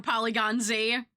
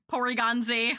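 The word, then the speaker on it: Porygon-Z: For Polygon Z. Porygon Z. Oh god. I'm already pronouncing it wrong. Pioy. Porygon Z. There we go.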